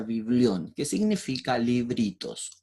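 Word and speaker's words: βιβλίον: la Biblia, que significa en el griego biblión, se pronuncia biblión, que significa libritos o libros, porque son varios libros juntos y que comprenden una unidad literaria.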